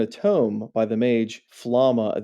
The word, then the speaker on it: Flamme: tome by the mage Flamma. The English dub calls her Flamma. I don't know. It's spelled Flamme. To me, that's like flam, but they call her Flamma.